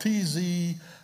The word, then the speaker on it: tzitzit: The word fringe, same word as hem in Matthew, and the word is tzitzit. It's spelled T-Z-I-T-Z-I-T, tzitzit.